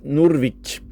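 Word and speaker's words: Nordvik: nord, c'est le cap Nurvic. Alors, je le prononce à la à la scandinave parce que c'est un mot scandinave mais ça veut dire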